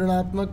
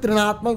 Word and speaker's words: ऋणात्मक: अगर कोई चीज़ घटती चली जा रही है तो उसको हम ऋणात्मक कहेंगे, यानी कि माइनस से डिनोट करते हैं ऋणात्मक को। इसे त्रिणात्मक मत पढ़ना, कई बच्चे इसको गलत प्रोनाउंस करते हैं, ठीक है, जिसकी वजह से प्रॉब्लम आ जाती है।